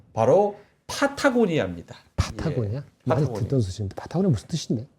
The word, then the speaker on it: 파타고니아: 자, 사타구니아가 아니고요. 파타고니아입니다. 예, 사타구니아 아닙니다. 네. 파타고니아.